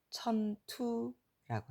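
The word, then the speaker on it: 塵土: 그러나 중국어 발음으로는 천투라고 합니다.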